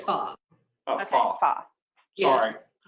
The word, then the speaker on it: pho: We ate Chinese / pho. Pho, The first pho, bit. Pho. pho. Is it, how do you spell pho? So, It's fa. Well, it's spelled like that, but you pronounce it fa.